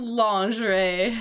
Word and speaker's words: lingerie: I know that that the pronunciation of this word is completely different from what it from from the look of this. This is lingerie. Uh women because uh English is terrible like that.